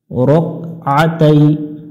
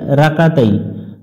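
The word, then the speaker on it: رَكْعَتَيْ: তালা লিল্লাহি তাআলা রক আতাই এখানে অনেকজন ভুল করে রাকাতাই রাকানা রক আতাই রক আ গলা চাপতে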